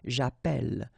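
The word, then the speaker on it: j'appelle: in the previous video, if you have you know double L like that it will affect the pronunciation of the uh so actually it will open the sound and that's the reason why you will get the sound a okay japel japel.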